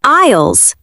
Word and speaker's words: aisles: We call them aisles. That is spelled a bit strangely. A-I-S-L-E-S. But the S is silent. We pronounce it like eyes.